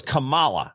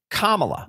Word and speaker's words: Kamala: Yes, because there's a difference in the pronunciation. Yes. The Ugandan giant was Kamala. Yes, which a lot of people pronounce her name that way. Whether intentionally or not. Yes, her name is truthfully pronounced Kamala.